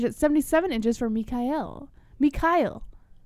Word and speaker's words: Mikhail: Mikhail. You gotta say it like an angry Russian. Like Mikhail.